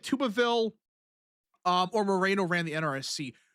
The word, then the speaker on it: Tuberville: Actually, anyways, not not really, but um Tuberville is the way it's pronounced. I grew up my whole life hearing Tuberville, not this. Tuberville every single day of my life.